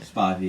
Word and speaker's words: Spivey: Spivey. Is that how you say it? Spivey, yeah.